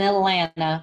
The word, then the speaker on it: Atlanta: As a kid who grew up in the South, and now I live in Atlanta, we do not pronounce the second T, by the way, and I grew up hunting.